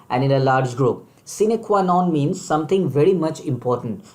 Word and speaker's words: sine qua non: Moving to word number 4, my dear friend, it's a very important word, and its pronunciation is sine qua non.